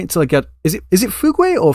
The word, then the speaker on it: Fugue: Is it Fugue or Fujue or Fudge or what? Like, I think it's Fugue. Fugue. It's just pronounced Fugue.